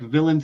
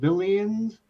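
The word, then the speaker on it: Villeins: lords and villains but it's not like villains it's the villians it's spelled weird and i think it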